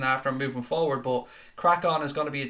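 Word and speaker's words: Craic On: The new channel is called Crack On. I've put it in the chat there. It's spelled C-R-A-I-C-O-N. Crack On.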